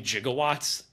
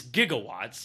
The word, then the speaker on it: gigawatts: 1.2 by the way they mispronounced gws and I think that's so funny um they keep saying jigawatts throughout the whole movie it's it's gigawatts like it's supposed to be gigawatts and I don't know